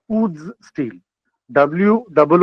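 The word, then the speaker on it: wootz: टी जेड उड्स steel अब अंग्रेज थे उनको उच्चारण आती नहीं थी ये दरअसल मेरी मातृभाषा से गई हुई शब्द है उक उक तेलुगु एज वेल एस इन कन्नाडा उसमें उक कु हो जाता है वह। अब वो उकु अंग्रेज को उच्चारण करने में दिक्कत हुई तो उसने उसको उज कर दिया।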